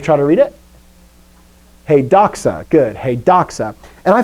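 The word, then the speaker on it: δόξα: right place okay so here we go ready doxa doxace doxa very common word uh you probably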